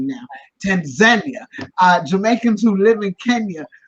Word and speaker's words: Tanzania: Tanzania, Jamaicans who live in Kenya, but who are by COVID, because we're still in the middle of a pandemic.